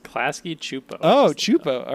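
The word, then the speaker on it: Klasky Csupo: think of, I was like, oh, I am Klasky Kupo. The creator of it's pronounced Klasky Chupo.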